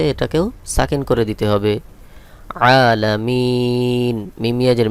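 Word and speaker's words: العالمين: উপরে জবর রয়েছে এটাকেও সাকিন করে দিতে হবে আলামিন মিম ইয়াজের মি এখানে তিন আলিফ টান হবে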